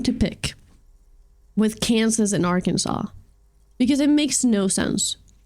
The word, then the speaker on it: Arkansas: have a bone to pick with Kansas in Arkansas because it makes no sense if one is pronounced Kansas and the other one has the